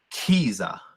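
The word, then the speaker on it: khiza: Now say it with the breath of air. Kiza. kiza. And that's to fight someone. So the letter H shows where Lakota speakers pronounce aspiration.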